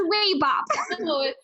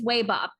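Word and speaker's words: Wabap: Apparently it's Waybop. Oh. She kind of looks up. This is the end. She looks up, looks right at you, Wicket, with kind of a squint in her eyes. Spell it. W-A-B-A-P. We're not Waybop.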